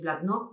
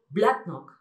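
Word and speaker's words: Bladnoch: Tenemos una excepción, por ejemplo, el caso de Blacknock, que es un whisky de las Lowlands. Muchos diréis Blacknock porque estamos acostumbrados, pero realmente se pronuncia Blacknock.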